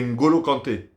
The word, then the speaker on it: N'Golo Kanté: Mais je crois que le N, si j'ai bien compris, le N il se prononce pas. C'est N'Golo Kanté.